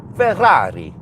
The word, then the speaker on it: Ferrari: Uh but then it's it's pronounced Ferrari. Ferrari. You have to emphasize the double R also.